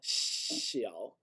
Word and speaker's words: 小: 多小, xiao. 多小. And this is, it's like a snake hissing. Yeah, xiao. 多小. It's almost like we say she. It's exactly like we say Kina in Swedish.